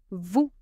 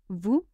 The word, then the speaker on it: vous: E il he she nous the proper way to use we nous vous vous it means you for minimum vous with s that is silent in is the masculine